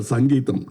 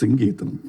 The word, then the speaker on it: Geetham: In Tamil Nadu, he used to get very upset because say Mr. Sangeetham. No, it is Geetham, please.